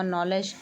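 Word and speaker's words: knowledge: व नॉलेज में के साइलेंट है।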